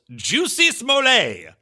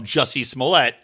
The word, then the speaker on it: Jussie Smollett: he does talk about who he calls Juicy Smollett, and a very McWilliams-esque pronunciation of Jussie Smollett, and does a fantastic